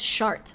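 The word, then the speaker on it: Chartres: here this was so annoying yes it says shart okay and that's how you pronounce it all right that's enough we'll say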